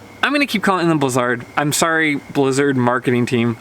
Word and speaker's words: Blizzard: Blizzard was originally pronounced Blizzard. I believe it was like it's a European company. What they did is when they moved their headquarters over to the Western US and they tried to kind of go after that Western audience, they did a rebrand and made the pronunciation Blizzard to try to appeal to those Western US skiers. So they literally changed the